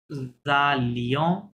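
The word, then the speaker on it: allaient: একটু ভুল লিখেছি, নু জালিয়ন, এই যে লি ও এন এস, লিয়ন, নু জালিয়ন, ভু জালিয়ে, ইল এল জালে, এখানে কিন্তু ওয়েন তে সাইলেন্ট, হ্যাঁ, ওইতে কি থাকবে, সাইলেন্ট থাকবে।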